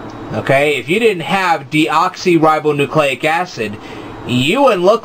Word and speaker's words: deoxyribonucleic acid: So I'm going to pronounce it right now. The word is deoxyribonucleic acid.